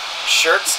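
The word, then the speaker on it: Schertz: It's spelled with S-C-H-E-R-T-Z. Okay, so but it's pronounced like shirts.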